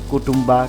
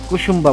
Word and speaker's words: কুসুম্বা: যদিও ভিডিওতে আমি তখন নামটা ভুল উচ্চারণ করেছি। কুটুম্বা, কাটুম্বা বিভিন্নভাবেই উচ্চারণ করেছি। কিন্তু আসল নাম হচ্ছে কুসুম্বা মসজিদ।